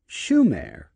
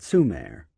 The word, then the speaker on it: Sumer: and their land Sumer except for mispronouncing the name it should have been Schumer not Sumer opet was right Sumer was